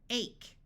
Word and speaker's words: ache: we have school, ache, Note that although silent E usually only works if there's one letter between the vowel and it, CH has one sound, so this E still makes the A have its long sound.